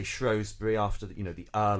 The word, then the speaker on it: Shrewsbury: section woohoo first word shrewsbury excuse me shrewsbury oh we're so bbc luke and i um shrewsbury is the standardized um way of saying it but of course the locals say both and this begs the